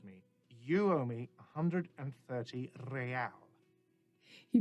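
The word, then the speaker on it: réal: go not so fast you owe me 130 Royale what's Ro excuse me you owe me 130 real he pronounces the r with the bach aristocratic exit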